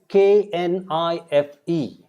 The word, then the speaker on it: knife: So, what we write, we do not say. Example, knife. It's K-N-I-F-E. It is written as K-N-I-F-E. But how do we pronounce that? We pronounce knife. It is almost same as N-I-F-E.